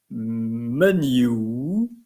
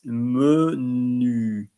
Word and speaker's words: menu: And menu is important also to pronounce the U correctly. I know it is a challenge for some of you. It's not menu. It's not menu. It's not menu. It's menu. Nu. Like turle-tutu, chapeau pointu.